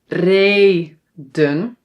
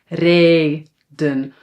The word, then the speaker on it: reden: Manen, reden, zonen. So when a syllable is open, it ends on a vowel, then the vowel is pronounced long, but we only need to write one.